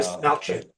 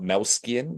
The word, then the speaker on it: Dastmalchian: Desmalchin. It's Melchin, not Melskian, because I've heard Yeah, both.